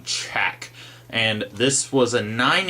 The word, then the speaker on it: Chaak: is in a minute see it's two A's there so I'm kind of over pronouncing check and this was a